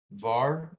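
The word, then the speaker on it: Hvar: to an island called var i believe uh it's spelt h-v-a-r but i heard the people the locals calling it var where they use monopoly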